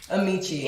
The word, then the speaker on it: Emichi: How do I pronounce the name on Instagram? It's Amici.